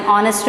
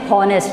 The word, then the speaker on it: honest: Or like when we say an honest man. So over there also we are not saying honest, we are saying honest.